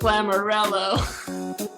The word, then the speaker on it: Lamoriello: And don't think I forgot that word rhymes with Lamoriello.